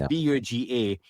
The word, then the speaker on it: Buga: Is it Buga Colombia? Is that what it was? I'm not sure how it's pronounced. Yeah, Buga. Might be Boga. Yeah, could be, but it's Buga.